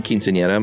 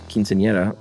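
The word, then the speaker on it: quinceañera: and your pronunciation of quinceanera was great nice as the era is a soft R sound um no need to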